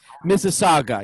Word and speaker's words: Mississauga: name of your first on massage i always mispronounce it mesega masaga saga yeah mississauga yeah it's got that head nod and hardcore